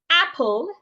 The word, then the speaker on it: apple: So the right way to say apple is making sure that my H is not heard.